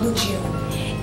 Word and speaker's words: Lejeune: The correct pronunciation of the word Lejeune is truly pronounced Lejeune, and that's because Lieutenant